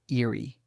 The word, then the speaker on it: IREE: What is IREE, pronounced eerie?